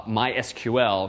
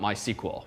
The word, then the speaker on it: MySQL: called mysql once and they do in fact pronounce themselves uh mysql not my sequel which frankly i find